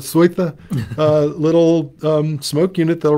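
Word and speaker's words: Seuthe: There was a time when if you wanted smoke, you stuck in a, most Americans say sooth, the Germans call it Sweitha, a little smoke unit that'll run off track power.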